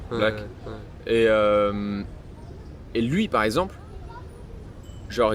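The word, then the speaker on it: 6lack: Après, je prendrais un exemple d'un Américain qui s'appelle, enfin ça s'écrit Six Lack, mais je crois que ça se dit Black. Black.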